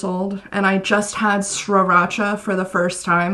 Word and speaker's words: Sriracha: I'm 25 years old and I just had Sriracha for the first time, like Sriracha sauce. And some of you might be thinking that I'm saying it wrong, that it's Sriracha, but it is Sriracha.